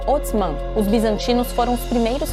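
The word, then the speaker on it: عثمان: se escreve assim e se pronuncia algo como otman os bizantinos foram os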